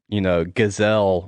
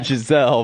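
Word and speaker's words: Gisele: Giselle. Yeah. I know. Gazelle wants me at home. Say her name right. Say her name right. I know Giselle wants me at home with the kids, but we'll see.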